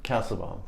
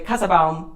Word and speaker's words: Kassebaum: glad you joined us today this is casabaum castlebomb oh see there we go again no problem no problem hardly ever gets pronounced correctly so so I am a former